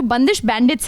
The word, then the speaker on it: बंदिश बैंडिट्स: तो हम ये जानना चाहते हैं कि जो बंदिश बैंडिट्स है इसका सही उच्चारण क्या है? देखिए, बंदिश का तो उच्चारण वही है जब बंदिशें हाथ में लगती हैं जैसे होता है, और बैंडिट्स यानी डाकू।